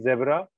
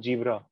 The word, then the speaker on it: zebra: picked up is zed a lot of people find it very difficult to produce a z sound so i have to say zebra they will end up saying jibra jeebra zebra so sound is